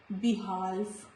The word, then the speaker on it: behalf: Letter L is silent before letter F. Behalf, not behalf, behalf, calf, half.